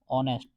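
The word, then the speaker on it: honest: तो यहां पे आएगा एन क्योंकि हमने बताया था इसमें एच साइलेंट होता है और इसका प्रोनाउंसिएशन होता है ओ से ऑनेस्ट।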